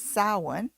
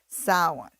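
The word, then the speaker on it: Samhain: Dead uh in Pagan circles it's known as salwan which I know it's spelled Sam Hayne but it's pronounced saw one and uh the the idea of putting masks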